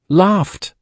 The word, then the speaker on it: laughed: Pronounced laughed. It's a soft t sound.